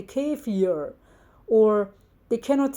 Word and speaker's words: kefir: They cannot say kefir, for example. They say kefir.